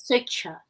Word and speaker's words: Swechcha: Pronounced as Switcher.